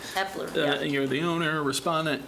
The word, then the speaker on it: Hepler: I think I pronounced it wrong, sorry, but Hepler. Hepler, yeah.